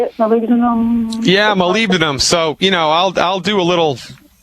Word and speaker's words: molybdenum: Molybdenum?